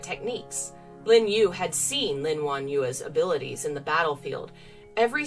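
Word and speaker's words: Lin Wanyue: to say this because the last syllable y-u-e is actually two sounds and i'm not used to one you you lin won yua stopped what she was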